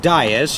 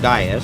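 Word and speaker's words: Dias: for Das it's pronounced Das it looks like Diaz but uh you know he's in Boston so it's pronounced Das di d i a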